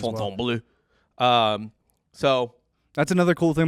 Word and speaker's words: Fontainebleau: I think you nailed that pronunciation as Fontainebleau.